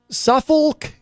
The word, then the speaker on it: Suffolk: it was it uh Suffolk County that was in the news and I I uh people people pronounce it a slightly different way but I insist on putting the L in there just so I don't